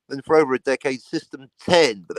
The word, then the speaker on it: System X: for over a decade system 10 but they spelled it with an X so everyone's been mispronouncing it almost everyone as system X for over a decade